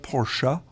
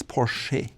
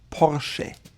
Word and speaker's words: Porsche: And the E sounds like an actual E. It's not Porsche, it's Porsche. She. Porsche. Now you actually go to